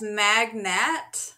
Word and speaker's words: magnate: Pronounced magnate, like a wealthy, influential person. No, Jenna, it's similar magnet, sounding words.